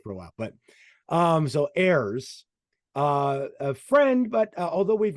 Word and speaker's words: Ayers: Yeah, okay, Ayers, like Ayers, but yeah.